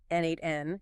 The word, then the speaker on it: N8N: Tools like N8N, that's spelled N8N. Natn is super powerful because